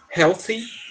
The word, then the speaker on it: healthy: Healthy food. A pronúncia vai ficar complicada só por causa do TH, que a gente tem aquele sonzinho com a língua entre os dentes, tá?